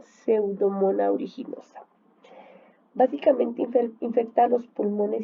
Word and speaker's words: Pseudomonas aeruginosa: Se escribe así como ustedes ven aquí, pero se pronuncia Pseudomonas aeruginosa.